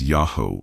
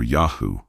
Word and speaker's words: Yahweh: When properly pronounced, the name appears as Yahoo or Yahoo, a critical detail that will become profoundly important later in our investigation.